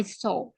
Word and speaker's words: saw: W-nya itu nggak dibaca ya, Kak ya. I saw. I saw. I Yeah. A bear. A bear. bear. Berarti soalnya sama kayak SO itu Miss bacanya. Iya. S-O. So. I saw.